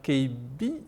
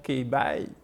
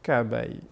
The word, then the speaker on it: K'By: Après, j'ai pensé à l'anglophone. Donc je me suis dit, peut-être que l'anglophone, il ne va pas dire KB, il va peut-être dire K-Bye. Voilà.